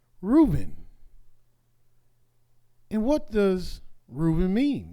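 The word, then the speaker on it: רְאוּבֵן: Therefore, Leah naming her son Reuben, and incidentally, the way you pronounce Reuben in Hebrew is Reuben, and you hear the word ray.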